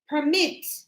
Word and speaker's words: permit: So I'm going to add the extra letter permit. Permit the mit.